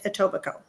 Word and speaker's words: Etobicoke: is woodbine is in etobicoke it is not spelled that way but it is pronounced that way okay again it's subject to interpretation but the most that i've heard it pronounced is etobicoke is that a native